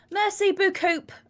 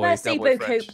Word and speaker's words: merci beaucoup: That's probably the same person that when they do French, they're like Merci beaucoup and like pronounce the P. It's proper Del Boy. Merci beaucoup.